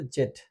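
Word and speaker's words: Z: Last যে অ্যালফাবেটটা আছে সেটা হচ্ছে আমরা বলি এটাকে জে, কিন্তু এটার উচ্চারণ হবে জেড। আমেরিকানরা এটাকে জিউ বলে আর আমরা ব্রিটিশে জেড বলে, তো এটা জে না জেড।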